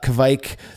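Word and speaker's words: kveik: I call it kvike. I used to call it kvake. And all of those, and I've said kvik a million times as well, all of those I was told as the kvike thing started to explode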